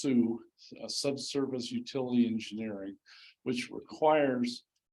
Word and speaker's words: SUE: Now those costs were based on the fact that there's a state law, which is pronounced SUE, Subsurface Utility Engineering, which requires a huge study